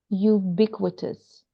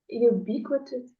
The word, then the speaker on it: ubiquitous: How do we pronounce this word? Ubiquitous. Ubiquitous. Ubiquitous.